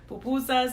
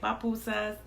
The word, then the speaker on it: pupusa: And also when you say like other things like pupusas, some people say papusas, popusas. Yeah, it's pupusa.